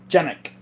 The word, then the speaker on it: Canik: KPA one says Canik pronounced like Janik, Turkish. Janik. Let's see here.